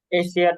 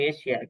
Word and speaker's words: Asia: এশিয়ার যে উচ্চারণ আমরা বলি এশিয়া, কিন্তু অ্যাকচুয়ালি উচ্চারণ হচ্ছে এশিয়া।